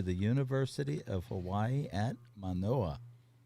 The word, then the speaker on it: Manoa: to offer Okay, you admission to the University of Hawaii at Manoa. Did I say it right? Manoa? Mm-hmm.